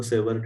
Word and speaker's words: Savart: Savoured में भी हम टी साइलेंट करके इसको सेवर कह सकते हैं।